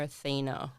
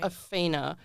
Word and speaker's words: Awhina: And plus, you keep calling her Athena, but it is Athena. But I don't don't blame you because it's spelled A W H I N A.